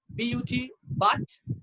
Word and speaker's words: put: P-U-T, but P-U-T, put. We don't say but.